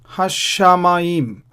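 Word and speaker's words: הַשָּׁמַיִם: Again here, Hashamayim, Hashamayim. So this shin has a Dagesh, and I'm pronouncing it twice.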